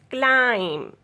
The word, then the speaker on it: climb: B is silent after M.